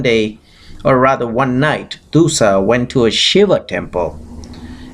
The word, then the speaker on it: Dussah: to a son who was named as Dussah, D-U-S-S-A-H. You can pronounce it Dussah.